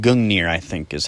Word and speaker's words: Gungnir: To begin, for his primary, he'd use his spear, called Gungnir, I think is how it's pronounced.